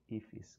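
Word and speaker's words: IIFE: Pronounce as ifis.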